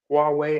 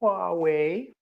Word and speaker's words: Huawei: for cell phones, they keep mispronouncing Huawei as Huawei. And that's when I have to break out the Chinese accents, and they're like, "No, it's called Huawei. You must call it Huawei."